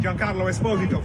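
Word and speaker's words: Giancarlo Esposito: fine what's your name and where you from joh Carlo Esposito from Italia on D John Carlo esposo John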